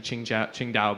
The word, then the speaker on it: Qingdao: over to the locals due to the pronunciation it's actually qingdao but that's what it